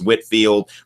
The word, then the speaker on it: Whitefield: So a lot of times I say Whitefield, even though it would have been pronounced Whitfield.